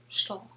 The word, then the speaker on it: Stull: So does S-T-U-L-L. They're all the same. It's OWL. It's all OWL.